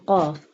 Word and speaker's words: ق: Qaf pronounced from the root of the tongue touching the soft part of the palate.